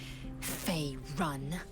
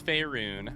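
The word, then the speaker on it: Faerûn: You will educate me on matters of this Fey run. It's Faerun. I hate to be that guy. I hate to be the linguist in the group, but I am a bard. Pronunciation is my vocation. It's Faerun. What do you mean by purification?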